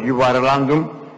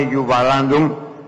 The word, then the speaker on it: γιουβαλάντουμ: αφορά την ονομασία του, η οποία προφέρεται ως γιουβαρλάντουμ, βιβλιογραφικά πάντα εννοώ, η συστή του προφορά είναι γιουβαλάντουμ. Υπάρχει βεβαίως τραγούδι ομώνυμο, το οποίο τραγουδίζεται και στην ποντιακή και στην τουρκική. Έτσι, γιουβαλάντουμ, γιουβαπούλουμ, ευρυτσίνην ταραπούλτου.